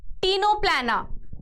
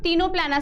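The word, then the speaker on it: Ctenoplana: है दूसरा क्या है टीनो पलाना है ना टीनो पलाना सी साइलेंट है इसका है ना टीनो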